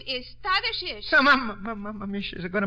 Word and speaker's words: Tadeusz: The name is Tadashish. So, Mama, she's going to make a trouble. Yes, young lady? In Poland, we say his name Tadashish Kosciuszko. But in America, Tadeusz Kosciuszko is fine.